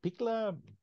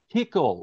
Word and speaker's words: Kickl: I can never pronounce his name. Bikla? What is it? Mikla? I hope I pronounce it right. Wait, which party? The FPÖ, the guy that is. Kekl. Kickle, okay, Kickle.